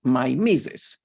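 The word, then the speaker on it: mimesis: they call it Nemesis which in English is pronounced my mises as you see from Wikipedia my source in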